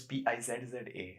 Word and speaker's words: pizza: But it's P-I-Z-Z-A. So it should be pizza. It should be in English pronunciation. Or In Italian, it's... In Italian, the double Z is pizza.